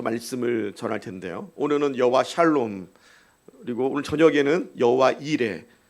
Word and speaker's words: 샬롬: 앞뒤 좌우로 샬롬 샬롬 쌍놈이 아니라 샬롬입니다 샬롬 발음 잘못하면 욕할 수도 있으니까 샬롬 샬롬은 무슨 뜻이에요